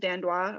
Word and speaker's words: Dandois: Is it Dandois or Yeah, Dandois, yeah, she's she's been in like the different top promotions.